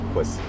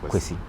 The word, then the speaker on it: Kwasi: So but the correct pronunciation is Kwesi.